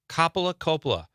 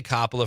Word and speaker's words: Coppola: Thank you, Catherine, for I'm going to say Coppola from now on. I know that's the correct pronunciation, but for some reason I say Coppola.